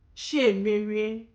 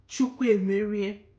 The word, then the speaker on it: Chiemerie: Chiemerie, it can also be pronounced Chukwemerie or Chiemerie, God has won.